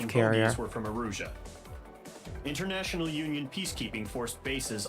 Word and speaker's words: Erusia: Princess, Kingdom of Erusia. Or Erisy? I am Princess Rosa, Erisy. Kingdom of Erusia. Erusia. Okay, I pronounced it correctly the first time on accident.